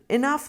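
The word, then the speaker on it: enough: Example, इनफ में हम pronounce करते हैं इनफ, एंड में साउंड आता है, लेकिन उसकी स्पेलिंग बिल्कुल ही अलग है। GH लिखते हैं हम फ की जगह।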